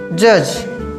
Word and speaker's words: judge: जज। तो लिखेंगे द जज। देखो जज ऐसे लिखते हैं JUDGE, जज, हड्डी साइलेंट हो जाता है।